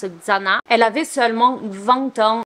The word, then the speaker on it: Xana: a qui disent XANA il y en a qui disent Shanna mais je pense que ça se prononce XANA elle avait seulement 20